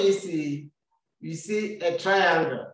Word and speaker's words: triangle: uh spelling in french so triangle in french will be the same spelling a different pronunciation in french we say triangle triangle so the letter first